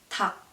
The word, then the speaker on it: 닭: So yeah, for example, this one, they're L and G, but you only pronounce a G, like 닭.